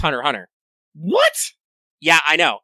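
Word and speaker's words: Hunter × Hunter: oh hunter what's just hunter hunter the x is silent i hate exercising by the way supposedly supposedly it's hunter hunter what yeah i know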